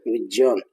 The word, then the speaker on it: विज्ञान: ज्ञ तो अक्सर हम इसकी बोलते हैं उच्चारण तो ज्ञ ऐसे करते हैं जो कि गलत है। इसका शुद्ध उच्चारण क्या है? ज प्लस ञ इसके मेल से बना तो दोनों आना चाहिए जय इसका शुद्ध उच्चारण होगा ज विज्ञान विज्ञान नहीं विज्ञान इसके पश्चात अगला जो